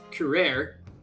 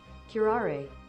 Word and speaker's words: curare: A toxin known as Curare, Your Excellency.